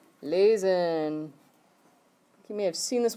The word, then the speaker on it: lese: Lese. So it's pronounced like lays.